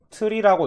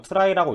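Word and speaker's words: trie: 트리라고 읽는 사람도 있고, 트라이라고 읽는 사람도 있는데, 저는 트라이라고 읽겠습니다. 그래서, 뭐, 특징은 이런 식으로 밑으로 내려가는 트리 형태고, 트리니까, 당연히, 뭐, 여기서 갑자기 겹치거나 하는 경우 없어요.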